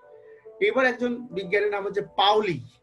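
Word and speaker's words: Pauli: একজন বিজ্ঞানীর নাম হচ্ছে পাওলি আমরা আসলে পলি বলি আসলে ওর নাম হচ্ছে পাওলি আসলে উচ্চারণের ক্ষেত্রে দেখো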